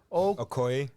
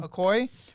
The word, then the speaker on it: Okoye: Okoye. Okoye? Is that really how you say it? Mhm. Okoye, with the help of their friend and the CIA agent Mr.